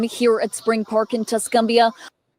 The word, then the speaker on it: Tuscumbia: their Saturday afternoon here at Spring Park in Tuscumbia. Wow, that's pretty. Listen to all those bugs and everything. Dang, that's pretty. And I pronounced it wrong. Crystal has to set me straight. It's called Tuscumbia.